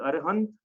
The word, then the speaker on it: अरहंत: तो भगवान दो प्रकार के पहली बात तो, ठीक है, एक अरहंत, अरिहंत कुछ भी लिख सकते हैं, दोनों प्रोनाउंसिएशन सही है, अरिहंत और अरहंत, ठीक है।